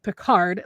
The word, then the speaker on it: Picard: I was like, I want to get a Berger Picard, which is Picard, like Captain Picard.